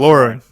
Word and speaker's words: Lauren: So You know, in our youth, there was I think didn't Ralph Lauren have like a you pronounced uh, it wrong. You did it wrong. I did it wrong. Yeah, Ralph Ralph Lauren. Lauren.